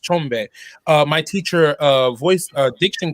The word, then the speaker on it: Tshombe: first tell you that you pronounce my name how it's how it's phonetically supposed to be pronounced chombe my teacher uh voice